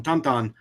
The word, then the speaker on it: Tintin: Noob asked, what is our opinion on we pronounce them Tintin. I've heard some people call them Tonton because it's French in origin.